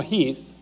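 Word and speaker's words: Heth: Lee's intent actually is to kind of let General Heath, it's spelled H E8, but it's pronounced Heath, to do a little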